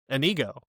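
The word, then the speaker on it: Iñigo: It just drove me nuts anytime I heard Anigo just exactly how he pronounced it, but everyone else was like calling him Inigo. Like, what the Are you deaf or are you just being flatout rude that you don't want to pronounce this guy's name right?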